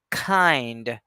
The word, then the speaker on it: kind: number one which is we need to aspirate since it's being followed by a vowel sound so it's going to be pronounced like this kind this is how I'll pronounce it kind we won't say kind